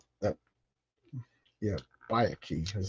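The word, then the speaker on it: Byakhee: She's going to kill that bay key. That Yeah, Bayaki is how you pronounce.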